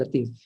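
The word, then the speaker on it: لطيف: Dibacanya ya Latif, ya Latif, ya Latif, ya Latif.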